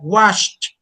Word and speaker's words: watched: As well, we were checking the verbs in present, like watched, watched, and then in this, in past, we add an T, a T, and that's the pronunciation we are going to use.